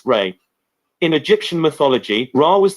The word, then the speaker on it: Ra: The word Ra is the name of an ancient god called Ra, pronounced Re.